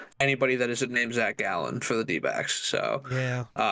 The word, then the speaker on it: Gallen: So yeah, maybe the D-backs win that game that Zach Gallen starts. The Denver Broncos? No. Zach Gallen. No, unfortunately. Like not. a gallon, like a gallon of milk? Yeah, but spelled with an E.